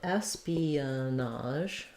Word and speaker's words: espionage: so espionage Espionage um so let's break this one down for you um we have first syllable stress and the letters es say the same thing that the the letter s says the S sound um so that's the